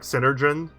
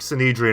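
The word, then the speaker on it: Synedrion: keep saying this wrong i keep calling them like synergen i think cinedrine is how you pronounce it mercenary has approached us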